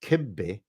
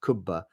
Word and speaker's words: kibbe: wife who is Iraqi that kibbe is the proper way to pronounce the dish not kubba which is the Iraqi pronunciation like the true Arab